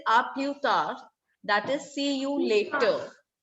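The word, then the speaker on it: à plus tard: We will not say plus or plus. S is silent. It is aplutar.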